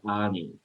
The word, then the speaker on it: Ayni: And so the interesting aspect about this is that there is a Quechua word from the Andean culture that is ani, and that is spelled Ayni.